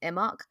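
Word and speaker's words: Imbolc: like even down to the holiday of um imok it's spelled i m b o l c but it's pronounced imok it's Groundhog's Day I'm not kidding I know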